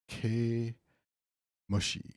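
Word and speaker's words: 毛虫: And then this is fur bug, ke mushi, ke mushi, ke mushi, ke mushi, 毛虫 ke mushi.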